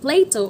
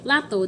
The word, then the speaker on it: Plato: Next, we do have Plato or Plato.